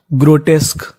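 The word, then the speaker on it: grotesque: क्यू यू ई। इस पूरे का उच्चारण होगा का। क्या होगा? का। तो पूरी मीनिंग बन गई ग्रोटेस्क।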